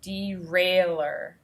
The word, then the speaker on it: derailleur: here's so it might be derail er derailleur and i also see it up here on this diagram here is what it's describing the derailleur gear system and it's actually given us a pronunciation guide so we can say derailer now i'll go back